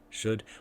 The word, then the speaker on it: should: Notice that the would, should, we don't really say the the L sound. Would, we don't say would, should, but would, should, we drop the L sound.